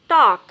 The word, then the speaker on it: talk: L is silent after AOU. Talk, walk, calf, half, palm, psalm, calm, balm.